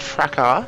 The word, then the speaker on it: fracas: Of course, we all know it should be pronounced fracas, of course, like garage.